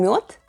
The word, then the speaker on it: мёд: But, more on that - later in the video 😎 First and foremost bees make honey or МЁД /myod/.